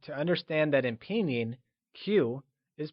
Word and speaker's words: 起: Before moving on, recall that in Mandarin, Q is pronounced with a ch sound. Qi is pronounced using the falling, rising tone. Let's try and say it again.